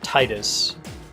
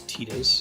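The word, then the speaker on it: Tidus: way they handled so I pronounce his name Titus I think that's how it should be pronounced other games have said the other one which is tetus and I owe you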